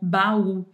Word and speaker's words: baú: É o que acontece, por exemplo, com baú, certo? Baú é uma dissílaba, é uma oxítona, porque o u é a vogal mais forte, então é a sílaba tônica, mas eu acentuo baú